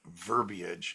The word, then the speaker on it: verbiage: Very few people know how to pronounce the word verbiage. It has 3 syllables, and you did it.